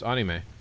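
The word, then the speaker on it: アニメ: So he called him up and he asked him how you pronounce anime in Japanese and he confirmed on speakerphone. It's anime. Yeah.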